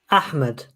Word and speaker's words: Ahmed: Ahmed.